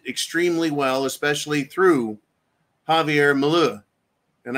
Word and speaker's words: Milei: And they express it extremely well, especially through Javier Milei and I can never say his name right, so I'm going to always mispronounce it as Javier Malou.